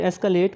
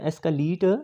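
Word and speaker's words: escalate: फिर एस्कलेट में CALATE होता है, ठीक है, यानी कि LETE या एस्कलीट नहीं होता, एस्कलेट।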